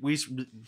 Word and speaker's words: Reese: very many things with Rees Rees with her it was her very first name rhymes with please hitter poon yes Reese